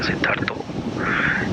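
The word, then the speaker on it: Siddhartha: We Bengali, we have a habit to put O. सिद्धार्थ. Yeah, Siddhartho in everything. Siddhartho. That's how we pronounce actually our name. But in Maharashtra and any other cities or states in our country, India, my name will be pronounced as Siddharth.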